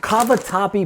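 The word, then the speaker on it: cavatappi: this is the pasta you want it is pronounced kavat tapy pasta basically it's little spiral pastas so all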